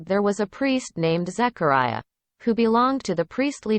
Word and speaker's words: Zechariah: 원음 발음에서는 Zechariah, 사가랴가 Zechariah라고 발음이 됩니다.